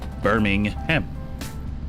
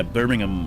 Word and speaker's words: Birmingham: Birmingham. I don't pronounce it like the UK people. What? How? Birmingham. Say Birmingham. I don't think they say the ham. I don't think they say ham.